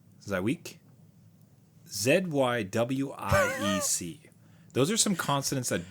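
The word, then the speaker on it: Żywiec: So mine is, I'm gonna blow the, if a gaming dad wants to let me know the actual pronunciation, let me know. But it's Zywiec, Zywiec.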